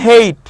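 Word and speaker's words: Haidt: ওকে, Jonathan হেইট ওই যে প্রথম আমরা ডেফিনেশন দেখেছি সেগমেন্ট নাম্বার 2-তে, জোনাথন হেইট, ওনাকে আবার হাডিড বললেন না, হ্যাঁ ওনার উচ্চারণে ওনার নামের যে স্পেলিংটা সেখানে ডিটা সাইলেন্ট থাকে।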